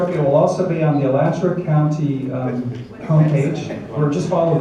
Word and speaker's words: Alachua: It's Alachua. Alachua. It's Spell that.